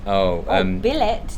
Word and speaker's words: billet: Billet does not end like ballet.